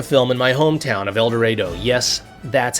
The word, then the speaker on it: El Dorado: I even set the film in my hometown of El Dorado. Yes, that's how we Kansans pronounce it, making the plot about a shipment